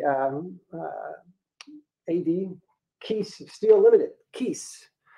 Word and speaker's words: Kies: A.D case still limited case rhymes with geese and if anyone can